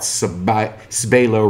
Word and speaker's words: Sbailo: So Vic Sauerkraut Sbailo rhymes with J-Lo.